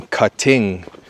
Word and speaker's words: cutting: It's pronounced cutting. Move the stress to the first syllable, cut. Not cutting, but cutting.